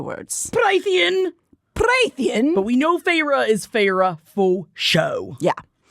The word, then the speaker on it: Feyre: from the eyes of a young woman named Feyre, which thankfully Sarah works a clever pronunciation of this name onto page 13 of the paperback because I probably would have been calling her Feyre the entire time. Feyre.